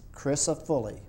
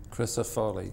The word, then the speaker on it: Crisafulli: and it's pronounced Chris chrisop foly chrisop foly the way it's spelled Chris C R I